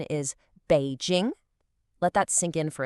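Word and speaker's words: 北京: The pronunciation is Běijīng. Let that sink in for a second. Běijīng.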